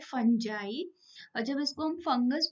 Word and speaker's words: fungi: आज हम पढ़ने जा रहे हैं किंगडम फंगी के बारे में या फंजाई। बहुत से लोग इसको फंजाई प्रोनाउंस करते हैं और बहुत से फंगी, बट एक्चुअली जो करेक्ट प्रोनाउंसिएशन होता है वो होता है फंजाई।